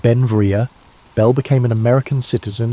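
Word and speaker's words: Beinn Bhreagh: Pronounced Benvia, Bel became an American citizen in 1882, but his name, meaning beautiful mountain in Scottish Gaelic, showed his Scottish heritage.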